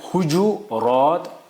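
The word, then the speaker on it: حجرات: उसका जमा आता है हुजू रात हुज रात हुजरात यानी तीन कहे इसकी प्रोनाउंसिएशन तीन एक है हुजू रात हुज रात हुजरात तीन उसके सही है।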